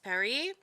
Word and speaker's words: Paris: with the school accent paris perry rather if you want to go with the correction um of pronunciation we stayed at